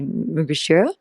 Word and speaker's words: Mrigashira: Gemini, back to, how do you say correctly, Mugashira? Yeah, Is this, Mrigashira.